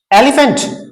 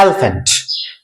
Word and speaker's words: एलिफेंट: आएगा one more एलिफेंट एलीफेंट नो इस word को पढ़ा जाता है एलिफेंट ने की एलीफेंट एलफेंट इसमें ई है वो ऑलमोस्ट म्यूट है साइलेंट है इस वर्ड को प्रोनाउंस किया जाएगा एलिफेंट एलिफेंट ए साउंड आ रहा